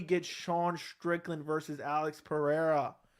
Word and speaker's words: Pereira: sean strickland versus alex pereira apparently i've been saying the name wrong i thought it was pahada it's pereira which is going to